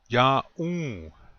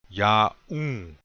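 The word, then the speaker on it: yaún: Ya'u. This means you are. Notice the accent is on the second syllable. Ya'u.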